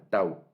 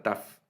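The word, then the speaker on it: תו: Vamos a ver aquí, aparece como la Sin, como la Tau, la letra Tau, o también se conoce como la letra Taf, o Tab, algunos así la pronuncian, la letra Tau, que es la última letra.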